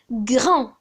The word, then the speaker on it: grand: Grand. Grand. Quel est le féminin de grand? Grand. C'est grande. Grande. On entend le son de au féminin. Automatiquement, il faut rajouter un D à la fin de grand.